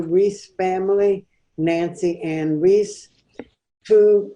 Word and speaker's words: Rees: Is that how you pronounce it? Rees? Yes. Mm-hmm. Rees.